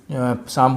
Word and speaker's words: psalm: तो इसी तरीके से अगर आप देखें यहाँ पर साम में P साइलेंट है, साम बोलते हैं जो प्रेयर